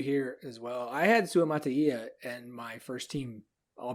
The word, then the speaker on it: Sua Mataia: All right, Max, we need the pronunciation because I couldn't find one. It's Sua Mataia. Sua Mataia.